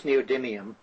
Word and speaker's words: neodymium: have I don't know if I'm going to pronounce this right, the neodymium magnets.